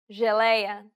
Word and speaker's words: geleia: The letters J and G can sometimes be pronounced like. Je, It sounds like the S in pleasure.